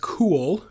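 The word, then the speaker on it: CUWL: that back so this actually is is pronounced cool right see UWL Cisco Unified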